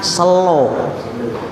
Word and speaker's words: sela: Jadi tulisannya itu mungkin sebenarnya sela, tapi orang Jawa bacanya selo. Seperti Surabaya diwaca Surabaya, tulisannya A tapi dibaca O. Paham? Tulisannya A dibaca O ya.